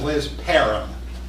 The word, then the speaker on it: Liz Parham: name Mis pronounced a lot but you to pronounce it correctly her name is Liz param that's right and Liz has a title that